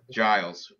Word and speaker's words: Giles: michael morales trevin giles is a giles or giles dumb giles so soft g i picked um i'm